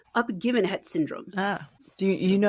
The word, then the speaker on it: Uppgivenhet: I love it, in Swedish, it is called Uppgivenhet Syndrome. Ah. Do you know actually how to pronounce words in Swedish?